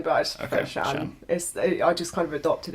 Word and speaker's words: Shann: It's like, is it Shann? Yeah, but like it's Shannon, but I just prefer Okay, Shann.